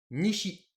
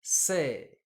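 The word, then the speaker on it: 西: L'Ouest, lecture purement japonaise, Nishi. Lecture sino-japonaise, Sei.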